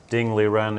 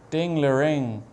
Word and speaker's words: Ding Liren: Let's briefly check in if something happened in Ding Liren against Grishuk, right? Ding Liren. Is that the correct pronunciation? No. Ding Liren.